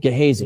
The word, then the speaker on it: Gehazi: I always mispronounce it. Gehazi.